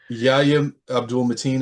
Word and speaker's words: Yahya Abdul-Mateen: The guy who played Wonder Man, I'm not sure how to pronounce his name. Is it yeah. It is difficult. Yahya Abdul-Mateen?